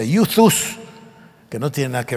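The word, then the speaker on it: εὐθύς: Y fíjense ustedes qué curioso, el evangelio según San Marcos usa la palabra griega que se escribe Euthus y se pronuncia Euthus, que no tiene nada que ver con YouTube, por cierto, es otra cosa.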